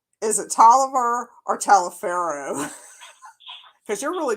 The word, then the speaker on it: Taliaferro: Tolliver. Yeah, well, yeah, I don't know how people got the name Tolliver out of Taliaferro, Yes. but it's spelled Taliaferro, but everybody pronounces it Tolliver for some reason.